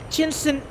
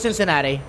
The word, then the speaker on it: Cincinnati: else is there actually is it Cincinnati or chin cin no it's Cincinnati that one is very easy also I think like for whatever reason the for the longest time I thought you have to proc chin chinatti but I don't think that's correct it's it's like a like a soft sea like Cincinnati how you pronounce that